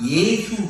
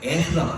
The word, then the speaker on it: 예수: 가장 중요한 예수 발음이 안 되고 애수라고 그래. 애수.